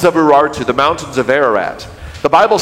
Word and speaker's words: Ararat: And Ararat is a Hebrew pronunciation of an ancient kingdom called Urartu. The consonants are the same, the vowels change.